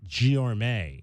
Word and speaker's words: Guillorme: Luis Guillorme. Found out afterwards. Guillorme. It's a great name. Is how you pronounce that young man's name.